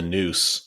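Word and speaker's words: Neuse: clear the river that I'm talking about the Noose which runs through Newburn is spelled NE I believe it's a Native American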